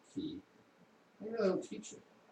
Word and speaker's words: ki: lip service to the idea of Chi, or as Japanese pronounce it, Ki, they really don't teach it.